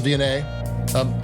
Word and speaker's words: Viognier: you see written, but you never hear them pronounced. But this is Viognier.